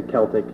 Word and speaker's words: Celtic: So if you have the hard K sound at the beginning.